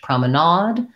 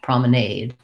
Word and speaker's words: promenade: is showing me that in british english promenade in american english promenade so i guess that's probably why i know both pronunciations and then your other